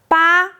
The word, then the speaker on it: 八: Second side first tone ba means it ba it's a number.